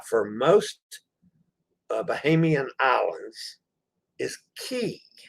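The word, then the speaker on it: cay: down there again tomorrow tomorrow we're in coco k interestingly enough the c-a-y for most bahamian islands is key it's pronounced key but coco k is pronounced k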